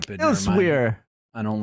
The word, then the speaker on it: Elsweyr: It is spelled Elsweyr, Yeah, like And that's like stupid. Never mind. elsewhere.